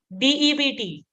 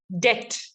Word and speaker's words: debt: So when you have a loan, you have a DEBT. Which word is silent? Absolutely correct. The B is silent. Wonderful job done, guys. You're doing very, very well. So how do I pronounce it? Debt.